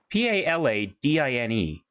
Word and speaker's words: Paladine: Now, I keep putting an N in there where there shouldn't be. Paladine? Paladine? Yeah, it's Paladine. So, I'm just bad at pronouncing it. Paladine. Right. No, there's no N after the. It's Pala and then Dine.